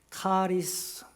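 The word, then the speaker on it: χάρισμα: 지식의 은사이 은사 그 성령의 아홉 가지 은사를 말할 때는 카리스마라고 읽어야 합니다 그게 은사에 카리스마 또 하나는 같은 은사로 번역을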